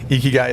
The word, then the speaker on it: Ikigai: having me appreciate it did I make the pronunciation on your firm correctly geeky guy geeky guys it is yep you guys okay perfect and